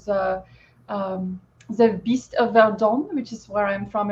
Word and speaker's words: Verdun: So basically, there was something called the Beast of Verdun, which is where I'm from in France, the Verdun Valley. The Beast of Burden? Verdun. Verdun. Oui. You are not saying every syllable in that word.